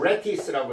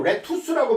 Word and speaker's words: lettuce: 베이컨의 약자 B이고 그다음 L이라는 건 레티스라고 해서 레티스. 레티스 T가 두 개 맞습니다. T가 레티스라는 것은 요 레투스라고 발음 안 하고요. 레티스라고 발음합니다.